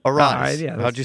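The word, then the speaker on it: Aráez: The last time he gave us he rolled the R.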